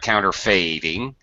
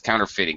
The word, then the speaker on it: counterfeiting: a like way but this is not counter fading it's counterfeiting this goes against the